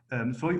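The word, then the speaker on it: σοι: you could always say like soy, or si as it is pronounced in the Byzantine period, is orthotonic.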